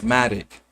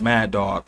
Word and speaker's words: Madoc: And we can even go on towards the time if you understand the story of Prince Madoc, who, or they could call Prince Mad Dog, however you want to pronounce it, Prince Madoc, who was